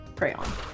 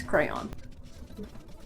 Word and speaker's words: crayon: I get mad at my wife all the time because she's one of the people that says it more like crown. 38, crayon. I definitely say crayon. If anything has a correct pronunciation, it's crayon.